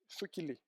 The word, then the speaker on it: SQL: So you write to an SQL or Sukili. Sukili. This is how you pronounce.